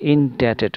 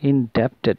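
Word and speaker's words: indebted: আমাদের শিক্ষকদের কাছে ঋণী, ইনডেটেড উচ্চারণটা কিন্তু ডেটেড, বিটা সাইলেন্ট থাকে, লেখা ইনডেপটেড না ইনডেটেড, উই আর ইনডেটেড টু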